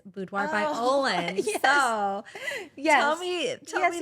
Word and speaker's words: Olin: And the Olin, Olin, comes from the very middle of Caroline.